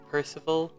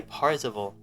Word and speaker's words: Percival: but Boy of Hope, Percival. I keep wanting to say Parzival. like from what's it called? Ready Player One. That Parzival, but it's not. But that's not how you say it.